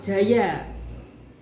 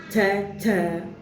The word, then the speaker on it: Djaja: Jaya ditulis DJAJA, jaja, tetapi membacanya jaya pada masa Swandi.